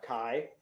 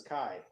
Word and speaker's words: Xi: thing it's it's uh so it's spelled c-h-i i'm sorry i spelled out not chi it's spelled x-i yeah oh the president yeah